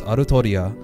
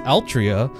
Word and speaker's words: Altria: There wasn't a an official localization, and that's uh that's how you pronounce it in Japanese, Arutoriia, which could also be Altria.